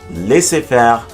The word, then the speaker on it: laissez-faire: And so we finally come to the letter Z. There will surely be attempts to blame the French, and yet the following have been fully established words of the English language for centuries now: chez, laissez-faire, and rendezvous.